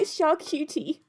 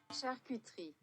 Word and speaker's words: charcuterie: My brain wants to say charcuterie. Google, help. How does one say? It does... Wait. Google, help me to pronounce this word. Charcuterie. It does say charcuterie.